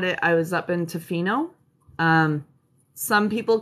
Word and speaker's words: Tofino: time i had it i was up in tofino um some people call it toffeno but it is tofino that's up island here uh on the northern